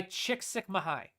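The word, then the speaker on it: Csikszentmihalyi: Anything by Chickik Sukmahai is how you pronounce that.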